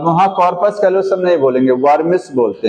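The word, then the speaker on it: vermis: वर्मिस बोलते हैं। क्या बोलते हैं उसको? बाय वर्मिस। डब्ल्यू है शायद स्पेलिंग में देख लीजिएगा।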